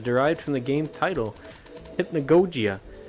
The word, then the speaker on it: hypnagogia: from the game's title hypnagogia you pronounce it hip na gojiya oh there you go